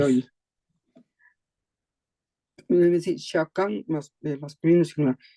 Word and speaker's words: chacun: Debe decir Shakan masculino singular.